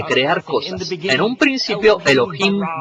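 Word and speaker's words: אלוהים: Se pronuncia Elohim. Repitan Elohim.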